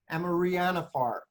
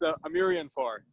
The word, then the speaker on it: Amarianfar: Amarianafar. I didn't pronounce that correctly. Amarianfar. I'm here. Yes. Yeah, it's Amarianfar.